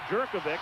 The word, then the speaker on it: Jerkovic: Knapp, Taylor, McGuire, Jerkovic, and that's the way he wants it pronounced, and Hall up front.